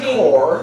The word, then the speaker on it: corps: No, it's marching corps. Corps. Even though it's spelled corpse. It's the P you don't say.